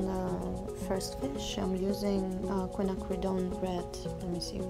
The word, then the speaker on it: quinacridone: To cover the spots on the first fish, I'm using quinacridone red.